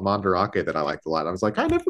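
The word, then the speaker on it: Mandarake: store that we went to that we were pronouncing as Mand Drake and and I was talking to my brother about it he's like oh yeah I went to this place called mandake that I liked a lot I was like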